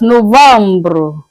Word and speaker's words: novembre: In French, it's being pronounced as Novembre, Novembre.